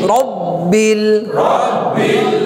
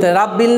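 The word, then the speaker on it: رب: লিল্লাহি আলহামদুলিল্লাহি আলহামদুলিল্লাহি রব্বিল রাব্বিল না রব্বিল? আমরা র উচ্চারণ কি বলছি? রা না র? র।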